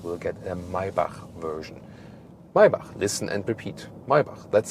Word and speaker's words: Maybach: Maybach, listen and repeat.